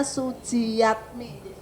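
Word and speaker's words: Sujiatmi: Kalau dulu namanya Suji, tulisannya Suji Jatmi ya Bapak, tapi bacanya Sujiyatmi.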